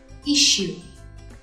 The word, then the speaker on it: issue: Tuy nhiên, nó là trường hợp bất quy tắc các bạn, nên chúng ta sẽ đọc là issue, gần như là chữ SH.